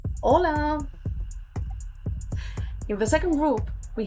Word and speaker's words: hola: But in Catalan H it's always always silent. Hola.